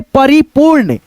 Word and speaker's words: परिपूर्ण: पू, उसके बाद से ये रेफ की मात्रा जिस अक्षर पे लगेगा उस अक्षर से पहले इसका उच्चारण हम लोग र में, आधा र में करेंगे। जैसे परिपूर्ण, परिपू, उसके बाद से र का उच्चारण, उसके बाद से ड़, परिपूर्ण, ऐसे करके।